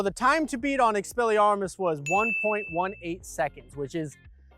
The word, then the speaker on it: Expelliarmus: The next spell I picked was Expelliarmus. Expelliarmus. That's how they say it in the movies.